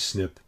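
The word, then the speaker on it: SNP: in the database but sniff is difficult to pronounce and many people use snip synonymously the most recent release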